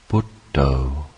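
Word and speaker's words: Buddho: simply recollecting the word butto we do this by breaking this word into two syllables the syllable but and the syllable Toe with each in breath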